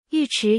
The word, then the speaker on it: 尉迟: 尉迟源自南北朝时期北方鲜卑族的姓氏。